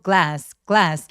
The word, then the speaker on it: glass: GL shoes 할 때 글래스 아니고 glass. GL G고 OL이 한 덩어리처럼 한꺼번에 발음이 돼요. 글라스 아니에요. 아 아니고 글래스 에라고 발음이 됩니다.